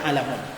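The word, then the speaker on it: عَلَمٌ: Al hadisu fihi alamun, itu bacanya alamun.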